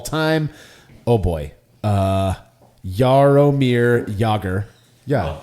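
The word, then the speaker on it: Jágr: right yes yeah uh rhymes with logger oh yeah jomir yogger yeah pickle you'll see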